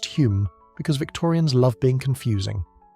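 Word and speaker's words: Home: That's Hume, but pronounced Hume because Victorians love being confusing.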